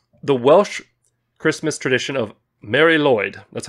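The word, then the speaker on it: Mari Lwyd: gonna be amazing the welsh christmas tradition of mary lloyd that's how it's pronounced or marie lloyd apparently you'll get a knock at the door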